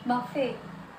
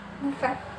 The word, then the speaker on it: buffet: Kemudian castle bukan castle, dan yang terakhir adalah buffet, bukan buffet ya.